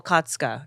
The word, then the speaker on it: Okatsuka: It's Atsuko Okatsuka. And it's Okatsuka. a lot of syllables.